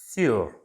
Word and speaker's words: sur: of the basic prepositions sure sure on s u r sure although it's exactly like sure the pronunciation is right it's a little different and su that is you can